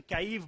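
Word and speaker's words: Kyiv: है यूक्रेन की राजधानी, हम हिंदी में कीव लिखते हैं, यूक्रेनियन रशियन काइव बोलते हैं।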